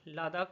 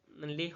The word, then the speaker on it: লেহ: এবারে হচ্ছে কি লাদাখ লাদাখ হচ্ছে লাদাখের রাজধানী হচ্ছে লে উচ্চারণটা এরকমই হয় লে লেহ নয় কিন্তু হ্যাঁ আচ্ছা তারপরে হচ্ছে